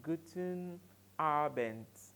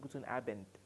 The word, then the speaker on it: guten Abend: and good evening is guten abend guten abend take note of my pronunciation guten abend I am pronouncing the G like a T guten abend and not good on abent guten abend guten abend